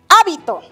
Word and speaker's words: hábito: Hábito. ¿Dónde está recayendo la mayor fuerza de voz? ¿En la última, penúltima, antepenúltima sílaba? ¡Correcto! Es palabra esdrújula. ¿No? Está la mayor fuerza de voz en la antepenúltima sílaba.